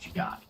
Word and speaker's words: Jugaad: Let's look at India, where the concept of Jugaad, Jugaad, I believe it's pronounced Jugaad.